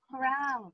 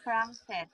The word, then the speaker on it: crank: Don't forget, this is crank. Build. Not crunked. Crank.